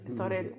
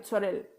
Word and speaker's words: Zorel: En Instagram es @DavidSorel, así, tal cual su nombre, Sorel con Z, a veces que yo no pronuncio la Z, pero es Sorel, ¿no?